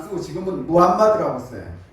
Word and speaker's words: 무함마드: 그런데 이 사람이, 우리는 학교 다닐 때 마호메트교 뭐 이런 소리 했잖아요. 마호메트는 터키식 발음이에요. 그 사람들 발음은 무함마드예요.